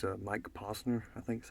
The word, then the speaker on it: Mike Posner: It's a Mike Posner, I think is how you say it.